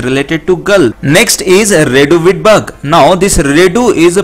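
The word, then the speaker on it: Reduviid: Next is Redu wheat bug. Now this Redu is pronounced like radio.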